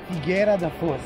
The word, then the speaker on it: Figueira da Foz: How do you pronounce the name of this place? Figueira da Foz. Yes. Figueira da Foz.